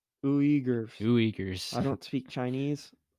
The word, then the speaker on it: Uyghurs: Do you know how to pronounce that? We're gonna say Gers. Uyghurs.